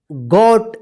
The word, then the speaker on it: got: देखिए यहां पे GOT, इसको क्या पढ़ेंगे? गॉट। देखिए यहां पे ओ का क्या उच्चारण हो रहा है? औ उच्चारण हो रहा है, ठीक है ना, औ।